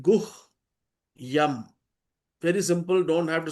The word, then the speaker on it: गुह्यं: It's very simple. Split Guh Yam. Very simple. Don't have to struggle. Guhyam, Guhyam, Guhyam.